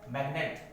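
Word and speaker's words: magnet: मैग्नेट, जहाँ जी एन से पहले आ रहा है लेकिन साइलेंट नहीं है।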